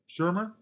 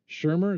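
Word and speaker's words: Shearmur: They didn't put any credit to the first one, but uh, Edward uh, uh, shemer Shurmer Shurmer is how you say that. S H E A R M U R Shurmer.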